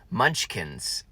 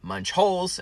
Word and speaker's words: Munchkins: my inability to say the correct word munchkins I think that's it is it munch I see I say it right there just fine instead in the drive- through the very first time I said Munch holes and the second time